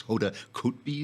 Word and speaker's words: Hoda Kotb: It's Hoda Kotb, is that Hoda Kotb? Copy? Copy, okay.